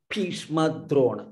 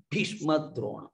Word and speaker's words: भीष्म द्रोण: पश्यैतान् समवेतान् कुरुनिति No, these Mahapranas are not pronounced correctly. Bhishma Drona. All you should put more stress here. Bhishma Drona, like that.